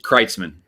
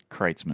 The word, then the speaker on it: Kreitzman: Yeah, it's Kreitzman, Kreitzman. as in I love Kreitz.